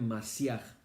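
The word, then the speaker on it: משיח: La palabra hebrea es Masiaj, así como suena, Masiaj.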